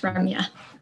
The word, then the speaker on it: Ramya: have today ramya i'm not sure if i'm pronouncing her name right yes ramya yes and then she's a first-year medical student